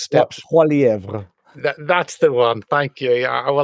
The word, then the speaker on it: Poilievre: And Pierre, whose surname I can never pronounce, steps. Poilievre.